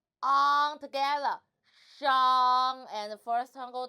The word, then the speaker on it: 上: 我们一起读上 So the initial is 诗 Rob your tongue 诗 and the final is on.